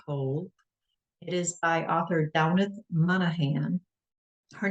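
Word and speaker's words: Damhnait Monaghan: Girl in little cold It Is by author downith Monahan her name is spelled d-a-m-h-n-a-i-t Monahan m-o-n-a-g-h-a-n and this one is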